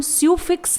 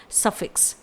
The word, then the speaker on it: suffix: इसे हम स्यूफिक्स नहीं प्रोनाउंस करेंगे, इसे बोला जाएगा सफिक्स।